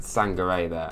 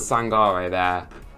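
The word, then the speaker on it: Sangaré: Another example here, again, yeah, he could have easily just passed it to Sangare there. I said it wrong. I was doing so well. He could have passed it to Sangare there.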